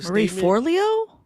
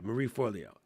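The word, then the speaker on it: Marie Forleo: Marie Forlio.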